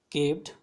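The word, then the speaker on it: carved: इट had been केव्ड बाय N unskilled carpenter. ये जो tiger लाया था, केव्ड का क्या मतलब होता है, यहाँ पर आर साइलेंट होता है, तो केव्ड का मतलब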